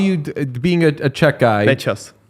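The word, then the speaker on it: Nečas: Necas. Necas?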